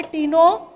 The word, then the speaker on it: Ctenophora: में है यहां पर यह जो तीनों टाइम है ना सी साइलेंट है क्रिकेट टीमों फॉर्म फॉर का मतलब